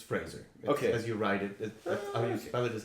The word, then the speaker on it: Fraser: pronounced differently it's funny a lot of people said Frasier but I saw him in an interview and he said it's Fraser and he doesn't know why people really oh that's he there's no age there but everybody says Frasier and he doesn't get it but yeah I've only